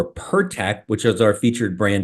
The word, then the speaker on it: PIRTEK: Yeah, so what you are saying PIRTEK correctly.